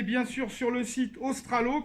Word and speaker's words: Ostralo: Alors, la première chose à faire pour répondre aux questions, c'est d'aller bien sûr sur le site Ostralo, comme ça se prononce, O-S-T-R-A-L-O, et d'aller sur l'animation de chimie, avancement.